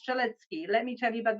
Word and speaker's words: Strzelecki: The other one is Strzelecki Ranges, and it is pronounced Strzelecki.